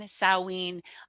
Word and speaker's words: Samhain: we just celebrated samhain that's spelled s-a-m-h-a-i-n so it looks like samhain but it's samhain sowein it's the precursor to